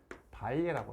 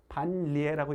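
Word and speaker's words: 반례: 거짓이 되는 예, 그걸 우리가 뭐라고 부르냐면 발예라고 그래요. 발예. 되지 않는, 반대되는 예라고 생각하면 돼요. 발예. 우리가 우리 이거 신라라고 읽지 않아요? 신라라고 읽죠? 그러니까 이것도 반리에라고 읽지 않고 발예라고 읽어요. 발예.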